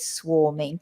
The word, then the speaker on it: swarming: and it's very full the pronunciation we have to watch as well with swarming even though it's written with an a the pronunciation is or swarming mhm not swarming swarming swarming swarming swarming and